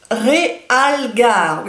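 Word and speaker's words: Realgar: orange qui est le real garde je le prononce à la française en fait c'est un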